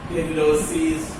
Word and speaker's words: pterylosis: You see, P in pterylosis and pterylei, P is silent, and P all the times in phonetically cannot pronounce.